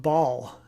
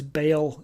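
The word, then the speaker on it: Baal: Bible ba Apostrophe a they actually would have said Bal with a nice glottal stop in the middle but we say ball or sometimes Bale in English Bale always kind of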